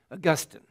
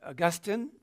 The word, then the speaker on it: Augustine: book that you'd want some of you will be raised in the British world and so you'll be saying Augustine so we will allow both pronunciations here you can be Augustine or you can be